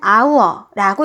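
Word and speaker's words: hour: 기호로는요 소문자 h라고 쓰고요 읽을 때는 아우라고 읽어 주시고요 우리말로는 시간을 뜻하는 어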